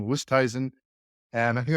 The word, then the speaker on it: Oosthuizen: And after 7 years, I just think I learned how to pronounce his name, Oosthuizen.